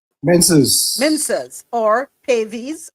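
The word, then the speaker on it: Pavees: Minces or pavvis or is it pavis? P a ves. Pavis. Pavis. Okay.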